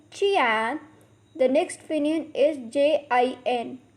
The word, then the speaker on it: jian: The next Pinyin is Jian, has a pronunciation of Chian. Repeat after me, Chian.